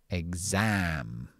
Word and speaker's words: exam: So, this is um explain or exam. So, this is just the K. We voice the K, guh. Voice the S, zuh. Egg- zam.